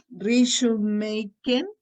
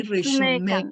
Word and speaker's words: Ritsumeikan: Universidad de, el nombre, a ver si lo pronuncio bien, es algo así como Rich, Rishumeken, algo así, Ritsumeikan. Rishumeken. Ah, gracias. Ritsumeikan.